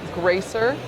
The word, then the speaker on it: Greicer: Pronounced Greicer.